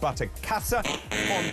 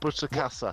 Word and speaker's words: Butterkäse: Now, the fondue was actually made with butterkäse. David's pronunciation of the German cheese, it's not butterkäse. What is it then? It's Butterkäse. Oh, Butterkäse. Not butterkäse. Thank you.